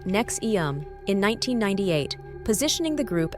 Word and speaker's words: NXIVM: again Keith reier started nxm pronounced nexum in 1998 positioning the